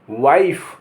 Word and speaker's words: wife: और आखिर में अगर ई लिखा है तो उसका कोई उच्चारण नहीं होगा। कैसे? WIFE वाइफ, वाइफ माने पत्नी।